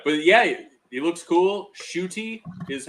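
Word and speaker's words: Ncuti: no oh yeah but yeah it looks cool shooty is how you pronounce his name i've learned it's the n-c-u-t-i right yeah yeah um it's pronounced shooty so that's not certainly not something that i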